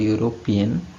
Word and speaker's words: European: So like if you just pay close attention while pronouncing the word European, the first sound that comes up is U, not E.